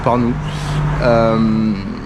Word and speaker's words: Pärnu: On va à Parnou, donc ça s'écrit P-A-R-N-U, mais ça se prononce Parnou.